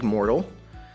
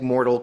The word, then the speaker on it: Moertl: My guest today is Moertl. Moertl Combat is the unofficial name, or just Moertl? Yes, Not spelled like mortal, but pronounced like mortal.